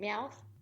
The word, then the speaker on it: Meowth: I know because I know I'm gonna say his name wrong. Is it Meowth?